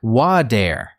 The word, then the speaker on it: water: When saying water, an American might not clearly pronounce the T, it sounds like water.